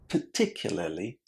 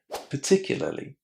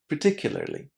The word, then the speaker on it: particularly: There are many syllables here and British speakers don't pronounce the letter R inside. So we say particularly. Particularly. Of course, you can pronounce the letter R in international English and say particularly.